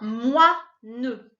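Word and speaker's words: moineau: Le mot, c'est un moineux. Même chose, hein, un moineux. Le O-I-N, il est coupé en deux.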